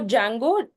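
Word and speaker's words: Django: as well so D Jango where the D is silent it is a python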